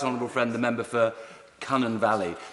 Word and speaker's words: Cynon Valley: I want to pay tribute to my right honourable friend, the member for Cunnan Valley. Tony Blair never managed to say it correctly. It was always Cynon Valley, according to him. Cunnan Valley.